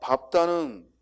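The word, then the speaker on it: 밟다: 넓적하다, 넓죽하다, 넓둥글다 하고 비읍으로 넓다는 리을로 발음해야 되는데 비읍으로 발음하는 경우입니다. 자, 밥다는 예외적으로 비읍이고 넓다의 예외는 넓죽하다, 넓적하다, 넓둥글다가 해당이 되고 그 이외에는 모두 리을 비읍이 들어가는 말은 얇다가 아니라 뭐야?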